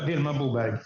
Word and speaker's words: Vilma Bobeck: Vilma Bobeck.